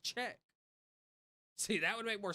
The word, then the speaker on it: Czech: It's It's pronounced Czech. See, that would make more sense. Hold on. Wait. Pronunciation. Wait. Come on. Check. It's pronounced check.